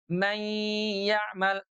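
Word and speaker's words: من يعمل: Nunnya yang semula ada di ujung lidah dengan langit-langit sekarang ditarik ke tengah lidah karena huruf ya-nya keluar dari tengah lidah. Mayya mayya tuh sambil ghunah ditahan dua ketuk keluar suaranya dari longga hidung.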